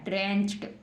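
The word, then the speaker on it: drenched: ड्रेंच्ड। ड्रेंच्ड क्या बन गया? ड्रेंच्ड। अब हम इसको ड्रेंच्ड नहीं पढ़ेंगे, ड्रेंच्ड, टे जोड़ देंगे हम, इसमें टे पढ़ेंगे इसको, डी को, है ना।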